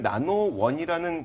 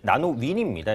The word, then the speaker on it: 나노윈: 오늘 나노원이라는 기업을 인수한다는 소식이 호재로 작용하고 있는데 이 나노원이 어떤 기업이라 그랬죠? 네, 이게 이제 나노윈입니다. 이게 발음이 약간 헷갈리는데 네. 그 제가 찾아보니까 나노윈이 맞는 것 같고요.